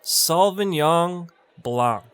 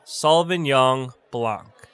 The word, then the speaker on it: Sauvignon Blanc: a bottle of chardonnay chardonnay that's how you pronounce chardonnay all right moving on to the next we have sullivan yong blanc i say again sullivan yong blanc hey bartender i'll take a glass of sauvignon blanc what would you like to drink i'll drink